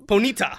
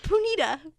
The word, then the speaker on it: Ponyta: are people saying oh ponyta pony Tony no no that's not what it it's the emphasis on the wrong so liable g yes it's